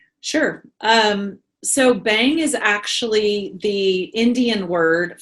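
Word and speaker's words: Bhang: high times and you are the CEO of bang Corporation and every time I use that name I always spell it immediately b h a n g can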